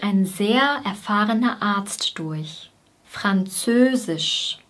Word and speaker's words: Französisch: Französisch, Fran, Fran. Bei F liegen die Zähne wieder auf der Unterlippe. Fran, dann folgt das Z, Z, Z. Zö, ein langes Ö, Ö. Die Lippen sind ziemlich stark gespannt und sind leicht nach innen gezogen. Ö, Ö, Ö. Sisch, sisch. Hier ist wieder die gleiche Endung wie bei physisch.